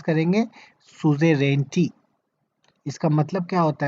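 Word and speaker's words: suzerainty: इसको कैसे प्रोनाउंस करेंगे? सुजेरेंटी.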